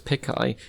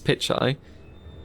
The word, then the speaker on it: Pichai: Pichai, who I was pronouncing as Pichai, which is now wrong, it's Pichai, had a steel rod pierced through his left eye, which killed him instantly.